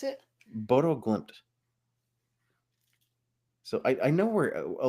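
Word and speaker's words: Bodø/Glimt: pronounce it? Bodo Glimt.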